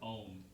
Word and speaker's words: Om: many traditional Hindus will look at the word Om, where it's broken into three sounds, specifically, like you said, A, U, and M.